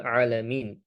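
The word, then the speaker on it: الْعَالَمِينَ: Rabbil alamin dengan harakat ain ee dengan huruf ain bukan dengan hamzah.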